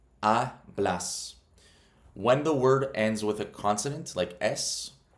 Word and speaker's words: hablas: So for example, with hablas, that's two syllables. Hablas.